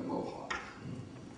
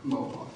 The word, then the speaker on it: Mohawk: Now, moving away from Cheyenne, we're going to go to Mohawk, which was the first American Indian language I ever encountered, as I said.